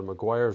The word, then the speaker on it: Meguiar's: paintwork has generally been meguiar's there's another way pronounced as well mcguire's wax i used that